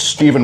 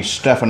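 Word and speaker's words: Stephen: in my first name it's Steven with a pH people call me Stefan all the time it's a little bit annoying though I've got to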